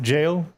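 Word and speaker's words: Gaol: Fun fact, Gaul is pronounced jail. Yo. How? In what language? Theirs. I guess holy, that was pretty. No, it's just jail.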